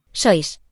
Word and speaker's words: sois: sois, So this is pronounced s, oi, s.